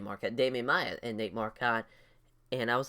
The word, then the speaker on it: Marquardt: in these answers Nate Marquardt is a great fighter as I've been saying Nate Marquette I don't know why in my head I was thinking that's how they pronounced it but I was watching